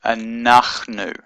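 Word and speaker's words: אנחנו: And in Hebrew, the word for we is anachnu. anachnu, or sometimes anu, anachnu. Aleph, nun, chet, nun, shurek, or vav with a little dot in it. So that's a u sound.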